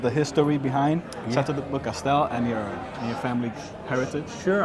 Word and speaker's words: Beaucastel: from Famille Perrin and Chateau, how will you pronounce that? Chateau de Beaucastel. Beaucastel. Yeah, absolutely. Got it. Can you tell us a little bit about the history behind Chateau de Beaucastel and your family heritage?